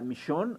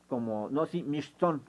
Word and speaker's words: Mixtón: Mixtón significa tigre, y sería Michón, algo así, Mixtón, como se pronuncia.